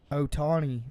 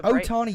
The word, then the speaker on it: Ohtani: Otani. I still ain't saying his name right. He's been playing all year. Is that how you say it? Yeah. Ohtani? Shohei Ohtani.